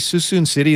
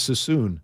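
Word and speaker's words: Suisun City: from the 510 Whitey Susan city is pronounced like Susan I'm from Vallejo I thought it was so soon Am I Wrong is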